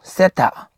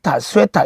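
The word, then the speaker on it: theta: 세타. 단순하게 세타 또는 스웨타 이렇게 읽으면 안 돼요. 번데기 발음입니다. 세타.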